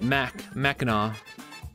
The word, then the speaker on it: Mackinac: I said it, you said it right, Mackinac.